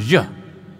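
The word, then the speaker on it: ж: So I'll tell you, I'm not very good at Russian, but it's pronounced zh. If you've heard of names like Zhukov, that begins with zh.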